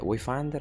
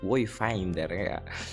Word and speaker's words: Wayfinder: Ciao ragazzi, ribentornati su Wayfinder. Comunque mi sono accorto che ho sbagliato sempre la pronuncia del nome del gioco. In questo caso non è Wayfinder, ma bensì Wayfinder.